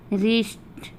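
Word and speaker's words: wrist: तो ये सब वर्ड है जिसमें हम W को नहीं पढ़ेंगे, एकदम नहीं पढ़ेंगे, क्योंकि देखिए सब में W के बाद R दिया हुआ, W के बाद R दिया हुआ, इसलिए हम W का उच्चारण नहीं करेंगे।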